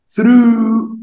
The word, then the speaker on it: through: ثرو ثرو ثرو ثرو يعني عبر او من خلال. بص الجي اتش سايلنت وتقول ثرو.